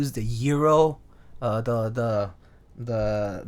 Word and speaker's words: gyro: like other meats too so it's pronounced Euro yeah Euro not not gyro hero that is far smarter